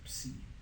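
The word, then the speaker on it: ψ: Phi, Chi, Psi, Omega, Psi. Yeah, I said. Yeah, it's Psi. Yeah, so the I's are pronounced like E. So, Phi, Chi, Psi. Yeah, there's no long I.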